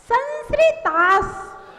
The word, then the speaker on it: संस्कृतास: संस्कृतास लगभग लोग गलत ही बोलते हैं। ये सन सन सन श्री श्री श्री तास। संस्कृतास संस्कृतास।